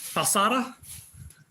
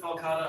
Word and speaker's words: Falcata: So we do have a Falcata? Falsata? I've always pronounced it Falcata.